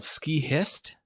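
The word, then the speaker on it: Skihist: U it was called ski hist and yeah it's spelled like ski and then h i s t.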